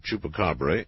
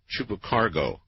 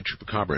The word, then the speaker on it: Chupacabra: Last night, someone butchered the pronunciation of Chupacabra in an interesting way. I believe he called it Chupacargo.